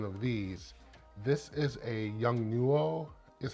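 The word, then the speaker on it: Yongnuo: i have one of these this is a young nuo is how it's pronounced uh light wand and this is the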